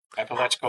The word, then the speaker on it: Apalachicola: Apalachicola.